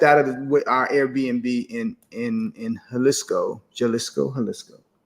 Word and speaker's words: Jalisco: When we stepped out of our Airbnb in Jalisco, how to say it properly, Jalisco.